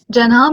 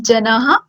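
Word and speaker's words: जनः: Janah means people. Janah. It won't be just jana or jana. It will be janah.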